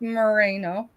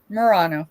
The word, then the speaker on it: Murano: It's unmarked merino. Murano. Thank you. I was trying to figure out how to pronounce it right.